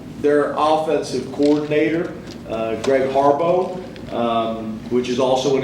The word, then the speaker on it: Harbaugh: offensive coordinator uh Greg Harbaugh um which is also an interesting one it looks like Harbaugh but in their pronunciation guide it's it's it's it's listed out as Harbo which was surprising I'm